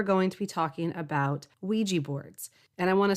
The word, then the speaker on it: Ouija: And I want to say real quick that here in America, we tend to say Ouija board when I know in other parts of the world it's Ouija. I think that's the actual correct pronunciation, but I'm stuck in